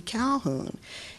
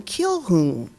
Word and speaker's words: Calhoun: Calhoun. And he said, but the blacks here can never say his name right. They call him Kilhoun.